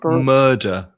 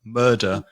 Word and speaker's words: murder: Just be careful with the pronunciation because again that vowel sound is uh like learn or burgle. Yeah. So, murder murder a murderer.